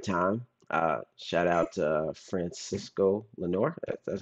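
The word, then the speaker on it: Francisco Lindor: at the right time uh shout out to Francisco Lenor that's how you say his name I met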